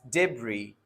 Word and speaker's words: debris: No, the first one is pronounced as debris.